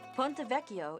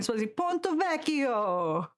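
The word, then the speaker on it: Ponte Vecchio: Ponttovecio is one of my favorite places to visit in Florence. You said it wrong. Ponttovacio.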